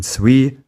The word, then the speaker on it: suis: Many final consonants in these forms are silent, and you don't pronounce the final s in suis, est, or sont, and you don't pronounce the final t in est, or sont.